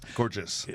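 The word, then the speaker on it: Cairdeas: it up on said it's somewhere between saying car chase and gorgeous purchase gorgeous i love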